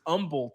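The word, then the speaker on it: Humble: He's the guy who taught me that it's pronounced umble Texas.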